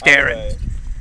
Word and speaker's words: Darren: I always assumed it was Darren. But it is Darren.